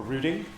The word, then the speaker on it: routing: going to talk about routing or rooting depending on your pronunciation um and I'd like